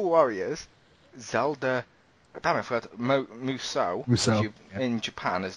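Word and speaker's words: Musou: best Asian on the X pound how' you pronounce that muso thank you I like Tommy muso yes director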